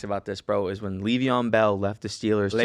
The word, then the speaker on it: Le'Veon: I'm just telling you, it's pronounced Le'Veon.